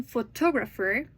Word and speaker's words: photographer: In photographer, the stress moves to the second syllable.